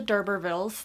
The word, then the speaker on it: d'Urberville: First off, we have Tess of the D'Urbervilles. That is, last I checked, how you pronounce it, D'Urberville, for those of you who are struggling as much as I did.